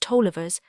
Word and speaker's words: Taliaferros: The Grattans, the Lewises, the Clarks, the Struthers, the Crawfords, the Rieses, the Harrises, the Andrewses, the Taliaferros pronounced Tollivers, the Campbells, the Barnetts,